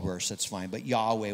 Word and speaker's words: Yahweh: hebrew values such as jehovah but it's column jehovah he's been called worse that's fine but yahweh would be the most accurate pronunciation for his covenant name um and so we